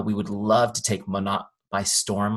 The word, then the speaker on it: Monat: Monat. Now you'll have it for all the next one. Can I say it like that? Monat.